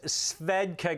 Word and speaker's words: Svedka: little bit uh from that yeah and it's pronounced svedka guys come on you guys got you guys